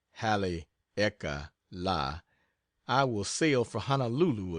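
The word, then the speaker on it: Haleakala: soon as I get back from Hal aala pronounced Hal eeka La I will sail for Honolulu again and then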